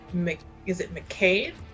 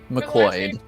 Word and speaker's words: McCoyd: But is it McCade? McCoyd. McCoyd. Okay, I just wanted to make sure because sometimes Irish and Scottish last names are pronounced completely and totally different.